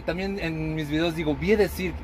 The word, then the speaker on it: Vie de Cirque: Un ejemplo, Vi de Cirque no se pronuncia Vi de Cirque ni siquiera. Se pronuncia Vi de Cirque porque es francés.